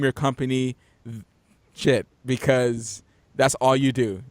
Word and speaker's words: Schiit: It's called a shit. Okay, it's spelled SCHIIT.